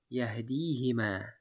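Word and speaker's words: يهديهما: And therefore this huma is changed to hima, because that's easier to pronounce it. Yahdihima, yahdihima.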